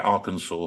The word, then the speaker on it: Arkansas: flood but SAS yeah Arkansas that's how it's pronounced that's the one which they've got which is like in England where we've got like Worcester I just thought Arkansas